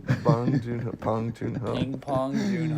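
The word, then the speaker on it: 봉준호: Pong Joon-ho. Bong Joon-ho, Pong Joon-ho.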